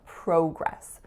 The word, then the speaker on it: progress: on your report and in Canada I grew up seeing progress so this one you'll notice is similar to the one we saw earlier project project progress progress next up we have